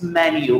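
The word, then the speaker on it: menu: यार मीनू लड़की का नाम होता है, मीनू को नहीं लेके आएगा वो. इट्स नॉट मीनू, इट्स मैन यू.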